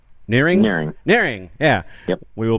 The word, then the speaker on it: Nehring: Craig how do you say your last name nearing nearing nearing yeah we will be back talking